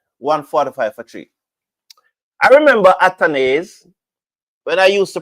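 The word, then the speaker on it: Athanaze: Some persons used to come on and say the man name pronounced atanaz. And so me listen to them and start pronounce it at. And then at came in an interview and said my name pronounced atones.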